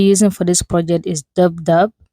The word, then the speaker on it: DupDub: The app we'll be using for this project is DubDub. It's spelled DUPDUB.